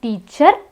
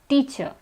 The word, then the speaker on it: teacher: It's not teacher, it's teacher. We also have alarm. It's not alarm, it's alarm. In all these words, the R is silent.